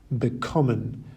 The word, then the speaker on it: bekommen: half of the word, bekommen, vergessen, besuchen, versuchen, verstehen, gewinnen, and entscheiden. Separable verbs, on the other hand, have their stress on the separable prefix itself. Ankommen, aufstehen, and zuhören.